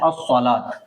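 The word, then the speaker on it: الصلاة: लिखा जाएगा सलूत लेकिन पढ़ा जाता है असलात। बोलने में लिखने में आता है ऐसे कि व के साथ लिखा हुआ है लेकिन खड़ा ज़बर होता है तो असलात बहुत साइलेंट हो जाता है।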